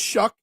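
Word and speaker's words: Shough: But you guys told me it's pronounced Shuck, so I'm going to pronounce it Shuck.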